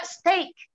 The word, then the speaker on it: steak: Demikian juga steak. Makanya ada warung namanya Steak and Shake. Warung itu ada slogannya steak and ada apa menunya tuh steak and shake. Itu bunyinya rhyme, ya, bunyinya rhyming. Steak and shake. Jadi bukan steak and shake. Karena itu membacanya EI, steak.